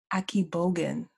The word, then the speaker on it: Akigbogun: a AK yeah that's closer um akib Bogan Aki Bogan okay yeah that's how I say it anyway it's yes it's pronounced differently depending on yeah that's how I